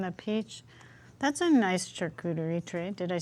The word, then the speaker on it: charcuterie: That's a nice charcuterie tray.